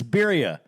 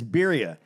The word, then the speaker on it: birria: It's birria. So I pronounced it wrong? Yeah, it's birria.